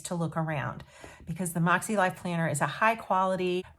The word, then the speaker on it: MäksēLife: way that you spell moxie life it's kind of a funny looking word it's m a k s e l i f e pronounced moxie like m o x i e so without any further